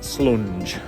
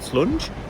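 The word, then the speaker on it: Slunj: towards brass Stoke and slunge I don't know how you pronounce it s-l-u-n-j uh slung is how I call it but the J is probably pronounced with the Y so big anyway that's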